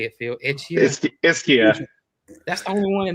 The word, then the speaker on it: Ischia: Ischia.